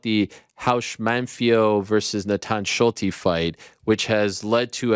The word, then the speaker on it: Schulte: They pronounce Schulte, by the way, New York Rick. They don't say Schult. They pronounce the E.